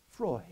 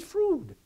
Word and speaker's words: Freud: you if I might the well-informed pronounce it Freud whether to Cav or applaud the illin pronounce it frud but I pronounce it fraud I'm see I'm running